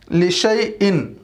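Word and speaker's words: لِشَايْءٍ: Last line देखें इस सफ़े की, लिशा ई, लिशा इन लिखा हुआ है, लेकिन शीन के बाद का अलिफ साइलेंट होगा, पढ़ेंगे लिशई इन, लिशई इन।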